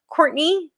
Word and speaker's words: Courtenay: It is at Courtney again like Cortine. It is pronounced Courtney but I spell it Cortine.